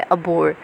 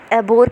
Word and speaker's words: abhor: कहते हैं, कुछ लोग एबोर कहते हैं। आप बोलो कुछ भी, यहाँ पर आपकी प्रोनाउंसिएशन चेक नहीं हो रही, लेकिन अगर ठीक है, ठीक बोलते हो तो और ज़्यादा बेटर होता है, पर बस वर्ड आपको याद होना चाहिए।